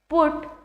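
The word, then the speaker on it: put: टी यू बी टर्ब आता आपण बघितलं तर फर्स्ट सेकंड आणि फोर्थ या तिन्ही ऑप्शन मध्ये जो यु चा उच्चार अ आलेला आहे बट third option P यु टी पुट आलेला आहे यु चा उच्चार यु आलाय त्यामुळे ऑप्शन नंबर थ्री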